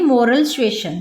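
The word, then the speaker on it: moral suasion: मोरल सीजन का क्या अर्थ होता है, देखिए थोड़ा सा प्रोनाउंस का इसमें हो रहा है, तो देखिए ये इसको बोलेंगे मोरल सुएशन, ठीक है।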